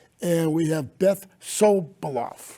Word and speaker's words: Sobiloff: And we have Beth Sobiloff, right?